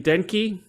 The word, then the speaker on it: Denke: Do you pronounce his name Denke?